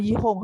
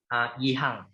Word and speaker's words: Gan Yihang: Did I say correctly or Gan Yihong? How do I pronounce it? Sorry? Yihang.